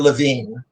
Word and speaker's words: Levine: my name is levine that's how we pronounce it you know there's some people pronounce it levi but we're levine and uh i'm i'm